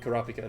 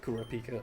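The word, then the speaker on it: Kurapika: It's It's probably like Korapika, not Kurrapika, but you know. Yeah, I've always said Kurip. I think that's how they say it in the dub.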